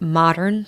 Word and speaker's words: Modrn: do people find out more about you and modern sanctuary absolutely a great question we would like